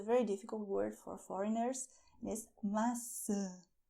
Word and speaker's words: maçã: And this is a very difficult word for foreigners: "MAÇÃ". "MAÇÃ", with your nose, too, "apple".